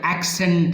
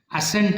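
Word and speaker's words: accent: ಈಗ ನಾನು ಈ ವಿಡಿಯೋಸ್ ತೋರಿಸಿದ್ನಲ್ಲ, ಅದೇ ನೋಡಿ, ಆಕ್ಸೆಂಟ್ ಅಂತಾರೆ. ಅಸೆಂಟ್ ಅಲ್ಲ, ಅದು ಆಕ್ಸೆಂಟ್ ಅಂದ್ರೇನು?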